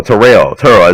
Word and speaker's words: Terrell: That's Mary Church Terrell. Or Terrell is how you pronounce his name, but Terrell, whatever.